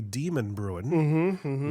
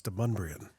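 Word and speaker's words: Demonbreun: you move to town There's a street that starts with a D in downtown Nashville it looks like it's should say demon Bruin but the emphasis is on the wrong salabo and it's mban yes they try to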